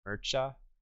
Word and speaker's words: Mircea: Mircea.